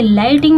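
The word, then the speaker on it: lightning: हु मतलब कौन देखिए लाइटिंग में भी टी के पहले जीएच है तो वो साइलेंट होता है लाइटिंग फ्लैश अबाउट ठीक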